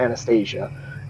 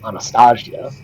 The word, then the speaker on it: Anastasia: thank you ty that is your fifth success sorry not anastasia the proper pronunciation because of the slavic is anastasia is investigation to try